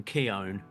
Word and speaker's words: Keown: It's like gown, I guess, is how he explained it.